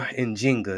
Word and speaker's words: Njinga: Netflix, African Queen, Nzinga, or Njinga is really the pronunciation of her name.